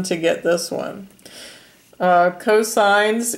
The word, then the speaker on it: cosine: abbreviation is cos and it's pronounced cosine not never cos but cosine and it's adjacent side